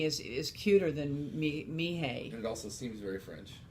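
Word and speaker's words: Mireille: she really wasn't named Mimi her name was me Hey and you spell that mi r e i ll e then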